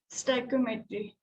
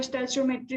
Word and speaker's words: stoichiometry: Okay, इसका pronunciation 2-3 तरह से होता है, आपको जो मन करे प्रोनाउंस करना, लेकिन कंसेप्ट अच्छे से समझ लेना। STOICHIOMETRY, स्टोइकियोमेट्री। कोई कोई स्टैचोमेट्री भी पढ़ते हैं, आपको जो अच्छा लगे